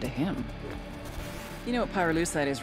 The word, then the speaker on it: pyrolucite: him you know what pyruleucide is right yeah neither did I pyrolucite key syllable pyro by the way is the [ __